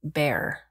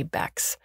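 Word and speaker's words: Bexar: becks the captain said my name is b-e-x-a-r pronounced bear but the cap like to call me bax which sounds like how it's spelled i don't know we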